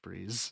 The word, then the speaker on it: Fries: Also, I love that his name is his actual name is Fries, but they just pronounce it Freeze.